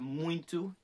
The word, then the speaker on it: muito: that into the t it does kind of seem to have a little bit of an n sound but just know it's